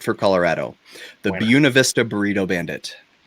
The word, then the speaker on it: Buena: correct for colorado the buena vista burrito bandit it's well in colorado you say buna i know that's not right but that's what it